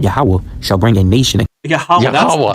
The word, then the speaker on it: Yahweh: Yahweh. That's how it's pronounced, everybody.